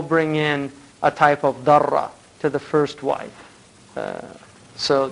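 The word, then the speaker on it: ضرة: Now, obviously, the word in Arabic for second wife is darra, sometimes mispronounced durra, but it's actually al darra.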